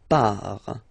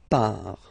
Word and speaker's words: pars: So the first form is je pars. So final S not pronounced, je pars.